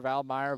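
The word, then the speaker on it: Valmeyer: of Val Valmire, Illinois, which I got that confirmed how to pronounce that because I I've heard that a couple ways to pronounce it. Valir Valmeer, but glad to get 100% confirmed as there's Grace Johnson.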